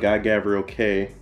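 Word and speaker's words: Guy Gavriel Kay: GGK, Guy Gavriel K. That's how you say it.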